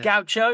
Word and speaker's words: gaucho: It's quite gaucho. Is it Gaucho? That's what they call him. Maybe I'm pulling that out of my ass. No, it is Gaucho.